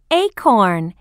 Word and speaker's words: acorn: unit 5 a a listen and learn this is an acorn do you remember the a sound what's the beginning sound in the word acorn a that's right a a acorn page 44.